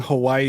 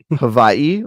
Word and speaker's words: Hawaii: situation where it's like saying Hawaii is actually incorrect is Hai but you know there you go Havi like I'm a German yeah it's Havi welcome to Havi no no no I